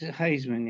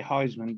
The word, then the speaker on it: Haisman: yay some people say some people say heisman but it's not heisman it's hazen uh i